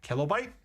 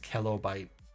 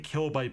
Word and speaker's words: Kellobyte: Is it not kellobyte? That uh it's a play on word. My name is Kelly. So it's pronounced kellobyte.